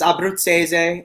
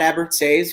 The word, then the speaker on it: Abbruzzese: matt matt a um in italian it's abrupt seize um we i just say matt abbott says because it's a mouthful